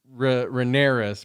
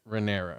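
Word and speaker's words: Rhaenyra: all these names though I kept calling her Ramirez but there's no asset on it it's just like renera right yeah cause uh supposedly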